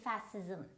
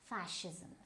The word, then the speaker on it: fascism: Now you might go wrong with it, you might say fascism, right? No, but it is not fascism, it is fascism, fascism.